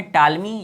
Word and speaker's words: Ptolemy: के यहाँ लिखा है टालमी का, चौथा है जो कि आते हैं जोग्राफर। तो रोमन में यहाँ चौथे जोग्राफर जो है टालमी, या इंग्लिश में आप कहेंगे PTOLEMY, ठीक है, पी साइलेंट है।